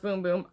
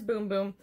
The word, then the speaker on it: Bum Bum: a boom boom creme which it looks like bum bum pronounced boom boom I prefer to call it bum bum I'm gonna be real honest with you here but it is boom boom and um it's from